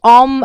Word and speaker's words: om: the grounding one so om is a combination of the sound ah oo m and i create um which is supposed to be you know um pronounced by using the diaphragm if you have studied